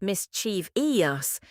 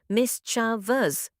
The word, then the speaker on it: mischievous: It's not mischiev-eous. It's only three syllables, mis-cha-vous. The I before OUS doesn't exist.